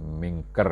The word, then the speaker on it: mingkur: Artine fakir ingkang wis mingkur ing fuqara kabeh, mingkur atau mingkir, ini biasanya dibacanya mingker, ya.